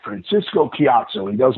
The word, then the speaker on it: Ciatso: I said, my real name in Italian is pronounced Ciatso. He goes, and he put his hands up in the air like an Italian. He's like, Francisco Ciatso.